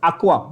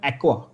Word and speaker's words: aqua: तो पेंटा, actually the pronunciation is aqua, not even एक्वा, इट इज aqua।